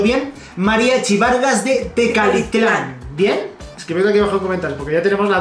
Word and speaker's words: Tecalitlán: de tecalitlán porque siempre recapitular de carlos lados pronunciando bien mariachi vargas de tecalitlán bien porque ya tenemos la duda de todos